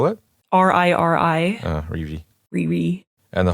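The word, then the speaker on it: Riri: the madoka didi did you how do you spell that r-i-r-i ah rishi ri-ri and the homura we don't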